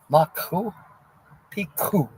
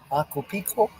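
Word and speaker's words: Machu Picchu: It's supposed to have a hard C sound in it when it translates to massive mountain. But over time, it started to be said wrong and stuck.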